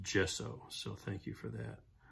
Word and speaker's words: gesso: Oh, thank you, one of my YouTube viewers pointed out that it's pronounced gesso, so thank you for that.